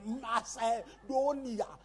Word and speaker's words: Macedonia: At the Macedonia, you pronounce every vowel. Macedonia.